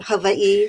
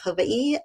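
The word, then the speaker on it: Hawaiʻi: Don't ask me why I've spent almost 40 years here, but I often say that Havi, which again is the correct pronunciation, you pronounce every single letter.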